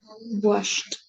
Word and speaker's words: washed: not going to say washes I will say washed pronunciation wash okay how can I say I washed